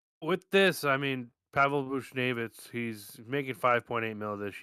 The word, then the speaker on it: Buchnevich: They did make a signing of Pavel Buchnevich.